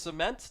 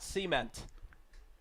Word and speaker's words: cement: It is pronounced cement, not cement.